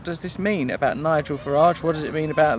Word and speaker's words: Farage: Oh, actually, it's Farage.